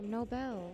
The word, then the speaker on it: Nobel: up with the no no bell like no but you said nobles okay pronunciation does not matter all right snowball it makes sense nina but it's nobel that's why i use